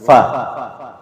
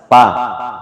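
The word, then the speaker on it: ف: Kadang kita membaca huruf fa ini ya sama dengan logat Makassar, pa, padahal bukan bibir ketemu bibir, tapi yang betul itu makhraj dari huruf fa ini adalah yaitu seperti ya, huruf F ya. Penyebutannya seperti huruf F disertai dengan nafas fa.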